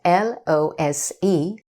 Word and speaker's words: lose: losing losing is spelled l-o-s-e when it means fail to win the other word loose notice the difference in pronunciation as well lose and loose means not tight for example a loose shirt